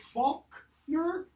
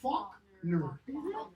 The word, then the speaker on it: Faulkner: Is it Faulkner or Faulkner? Listening to him, because there's recordings, there's no L there in his pronunciation.